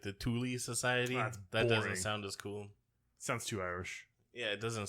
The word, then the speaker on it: Thule: Well, unfortunately, apparently, it's actually pronounced like the Thule Society.